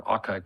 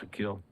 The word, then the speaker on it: Akil: reached out to me his name was Akil Collins or aai Collins depending on how you pronounce it but he calls himself Akil and he wanted me